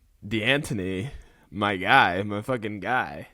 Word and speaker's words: D'Antoni: It's Mike D'Antoni and Mark D'Antonio.